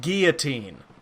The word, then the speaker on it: guillotine: It's pronounced guillotine.